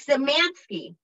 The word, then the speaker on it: Szemanski: And we're here today with just a very talented, sweet, nice, awesome individual, Mike Zemansky.